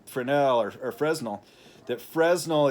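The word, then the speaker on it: Fresnel: to some theories of Fresno I'll say Fresno instead of Frenel or or the correct pronunciation of in French of his French name um Frenel or or Fresno that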